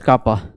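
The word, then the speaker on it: kappa: Pronounced as कापा pronounced as इसको हम लोग क्या बोल देते हैं?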